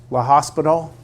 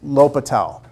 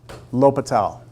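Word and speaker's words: L'Hôpital: pronounced many different ways La hospital is one way I've heard it pronounced but the way that most people will say it is l'hopital l'hopital we're going to learn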